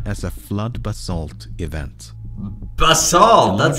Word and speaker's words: basalt: eruptions it's known as a flood basalt event basalt that's how you pronounce it 250 million years ago an enormous